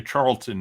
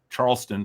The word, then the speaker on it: Charleston: And I obviously know who Oscar Charlton is. Uh Charleston, sorry. I guess if I knew him that well, I would pronounce his name correctly.